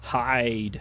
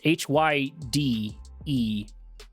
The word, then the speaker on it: Hyde: playing the Steel Talons, this is Hyde. I think that's how you pronounce it. It's H-Y-D-E. So Hyde? Something like that.